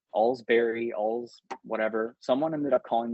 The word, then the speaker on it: Olcsvary: It's Olcsvary, Olcsvary. I don't care if you say my name wrong now.